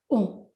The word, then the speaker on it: om: chakras gurudev writes that om is pronounced as a u and ma prolonging of the individual sounds contained in um these three letters